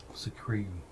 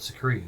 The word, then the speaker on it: Skeru: It is spelled Skeru. Secrete. Like Atreyu, but Secrete.